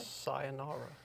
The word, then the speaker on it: sayonara: Sayonara? Is that how you say it? Sayonara.